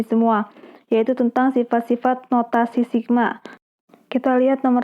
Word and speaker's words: sigma: Nah, di situ ada simbol E-nya kayak gitu, itu dibacanya sigma.